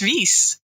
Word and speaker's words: Wies: my goodness this is hilarious my name is Reese that's a nice nice four-letter yeah and it's